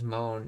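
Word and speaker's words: もの: The sentence ends with mono, often pronounced as moan in speech.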